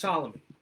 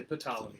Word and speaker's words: Ptolemy: The king, Ptolemy, he's spelled with a P. Ptolemy. It's pronounced Ptolemy. Sometimes people say Ptolemy, and I hate that.